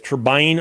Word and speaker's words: turbine: word t RB NE can be pronounced both ways turbine or turbin it's a matter of preference but neither is incorrect questions your comments put